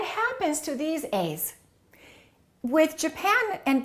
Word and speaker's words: Japan: But what happens to these a's with Japan and Brazil? The first syllable is reduced and the second syllable is stressed. So this will sound like uh and this a will sound like a.